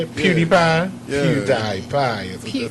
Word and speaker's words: PewDiePie: PewDiePie is what they say.